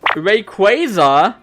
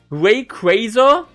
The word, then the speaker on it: Rayquaza: Yeah, we now have an official pronunciation of Rayquaza. Rayquaza. Rayquaza. I still call it Rayquaza. It sounds way better. Rayquaza. It's Rayquaza. Quaza. Like Zaza.